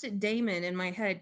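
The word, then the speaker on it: dæmon: I always pronounced it Damon in my head because it's got that AE instead of just e but when I did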